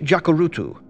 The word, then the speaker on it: Jacurutu: CH Jacurutu. The word is pronounced as it is spelled. Another name for Jacurutu is Fondak.